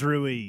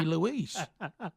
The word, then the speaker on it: Ruiz: his name Lis L it's R Iz that's Ruiz Ruiz Ruiz Ruiz Ruiz Andy Ruiz Jor how did you think that a word that start with r would be Louise I was just throwing out something I thought